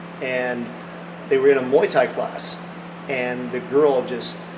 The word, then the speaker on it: Muay Thai: No, it's not pronounced Muay Thai, it's pronounced Muay Thai.